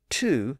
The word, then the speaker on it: two: on the other side and in that environment the W sound disappeared and of course the vow later shifted from toe to two and that explains why the number two is still spelled with a W in it but notice that other